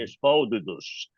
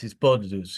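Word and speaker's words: התבודדות: here, he said it's a big Hasidic enterprise, Hitbodedut. Yes, and we're going to get to that actually. Hisbodedus. Yeah, you have to pronounce it as Hispodedus, even if you're Sephardic, because that's what they called it, Hispodedus.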